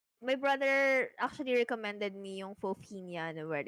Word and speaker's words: Fofinha: lot of people kasi they mispronounce my username, Fofinha. Pero it's actually Fofinia.